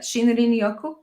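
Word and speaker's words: shinrin-yoku: pronouncing that. Shinrin Yoku.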